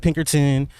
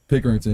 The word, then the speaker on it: Pickerington: And do you still carry that Pinkerton? Am I saying it right? Pickerington.